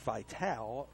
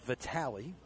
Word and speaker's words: Vitale: That would be Nick Vitale, spelled like Dick Vitale, but it's pronounced Vitale, Vitale. He will run at first base for Shearer.